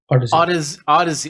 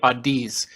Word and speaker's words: Odyssey: And you're with Odyssey. I still, for some reason, I say Oddies. Every time I see it, I say Oddies, but it's Odyssey.